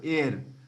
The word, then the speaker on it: heir: H is silent, so air.